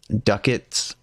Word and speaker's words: ducats: the currency is called ducats rhymes with buckets yeah I got exactly